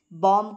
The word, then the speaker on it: balm: लोग हर्बल salt या बम के बड़े में आपके साथ डिस्कशन करेंगे यह पर ल लगा है तो ल एस साइलेंट है बम बम नहीं इसको